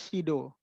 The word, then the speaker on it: CEDAW: SIDO ini tulisannya CEDAW ya. Tulisannya CEDAW, tapi kita membacanya SIDO. SIDO ini sebuah konvensi tentang anti diskriminasi terhadap perempuan.